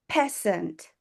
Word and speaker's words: peasant: I think there's just one word you're not pronouncing correctly. It's peasant. Peasant.